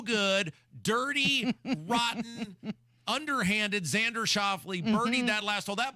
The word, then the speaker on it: Schauffele: How do you pronounce his last name? Xander Schauffele.